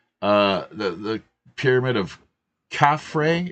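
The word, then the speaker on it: Khafre: the the Pyramid of cafre is that how it's pronounced I'm not sure C caffray yes so uh Bruce let's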